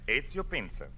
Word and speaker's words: Ezio Pinza: Is that the way you pronounce it? That is right. EZIO PINZA.